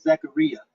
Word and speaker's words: Zaccaria: hollywood polo now does anyone have those uh zakaria tables on fx3 or on vpx if anybody has vpx and i've been saying today a lot of us percent name incorrectly the the pronunciation of it is zachariah you tell you the italian brothers zachary you